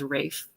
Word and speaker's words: Ralph: years before I learned that Ralph Von Williams famous composer is Rafe it doesn't look like